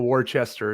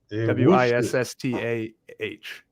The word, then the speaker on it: Worcester: have no earthly idea lot people War Chester and Worcester w i SS t a h that's how you pronounce my God I appreciate